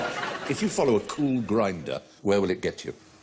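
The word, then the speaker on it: Kulgrinda: are hold on um if you follow a cool grinder where will it get you oh oh oh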